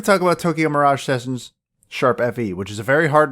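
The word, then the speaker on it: ♯FE: Effie yes it's pronounced sharp Effie not hashtag Effie that is not a pound sign or a hashtag it is the musical notation symbol for sharp if you don't know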